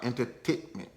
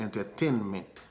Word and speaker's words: entertainment: Entertainment, c'est pas entertainment. C'est 3 T qui gen là-dedans. Des fois, Haïtien additionné un 4e T. Ou bien des fois, il retire N complètement. Le mot c'est entertainment.